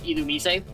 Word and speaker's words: Illumise: Fun fact, did you know according to the Pokemon anime, the official pronunciation of Illumise is actually Illumise?